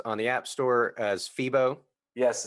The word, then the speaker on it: Pheebo: And everyone can check out your app, of course, on the App Store as Pheebo. Yes, it's spelled Pheebo, like That's Pheebo right.